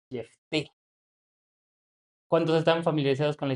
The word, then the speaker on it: Jefté: Digo, le he confesar que yo siempre he dicho Jefte, pero en realidad la pronunciación en el hebreo es Jefté.